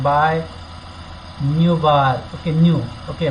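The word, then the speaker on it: nu: Okay, उसको कैसे बोला जाता है, न्यू, प्रोनाउंसिएशन कैसे करते हैं, न्यू, और उसका साइन है ऐसा।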